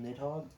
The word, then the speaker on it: Nidhogg: Good job, you failed, Nidhogg.